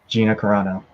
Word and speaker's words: Gina Carano: to say it for the name gino it's gina carano yeah it's not that hard hey listen you do